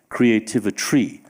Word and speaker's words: Creativitry: up with the word Creativitry, which Rachel just said rhymes with chemistry, also rhymes with artistry, and I might add rhymes with sorcery, because that's what we're talking about.